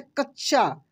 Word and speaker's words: कच्छा: पे जोर लगा जैसे कच्छा च पे जोर लगेगा कच्छा कच्छ ठीक है